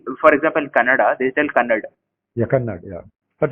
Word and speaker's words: Kannada: So in Bangalore, if you tell the name Akshaya, in Kannada actually it ends with a.